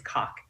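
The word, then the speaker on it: Coq: But for right now, the name of this language and the correct pronunciation of it is COC.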